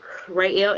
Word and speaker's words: Ruey: Rayel Industries is RUEY, but it's pronounced Ray. My middle name is Lil Ray, so that's where I got it from.